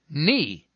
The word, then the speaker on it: knee: sir it's just that sometimes i'm silent so i do nothing but sit there give me some examples knight knee knife knock knock who's